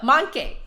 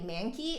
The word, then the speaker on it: Mancke: be Phil thanks Phil so monkey okay so monkey excellent yeah I see ously I've heard people say man key and I'm like okay I don't speak German but I feel like it that's not how you pronounce it harmonics articulation tone